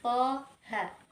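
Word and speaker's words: طه: Contoh berikutnya pada kata toha. To-nya kita baca 2 harokat dan ha-nya kita baca 2 harokat.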